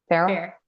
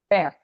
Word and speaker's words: Fayre: Fair. Fayre.